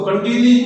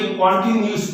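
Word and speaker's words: continuous: तो इसको कंटिन्यूस नहीं बोल के कॉन्टिन्यूस बोलेंगे।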